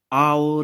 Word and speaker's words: hour: here you can see why Baja is an hour late okay so here in this world our H is silent and it's a vowel sound oh you